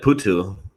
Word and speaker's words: Putu: Um, can you pronounce what is it? Putu? Yeah, that's it. Putu.